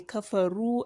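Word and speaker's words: كفروا: here lavina kapharou kufaru after a raw there is a wow and an alif that doesn't have any diacritic attached to them that is because they are muds so in the course of pronouncing it just forget about them they are for the purpose of elongation and that is why you say kapha rule and not kafuru min min ah lil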